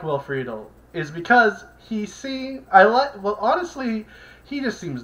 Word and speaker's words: Friedle: Friedle, I think it's how it's pronounced.